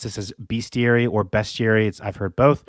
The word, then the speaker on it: bestiary: from it is best Siri it's pronounced bestiary yeah so dumb uh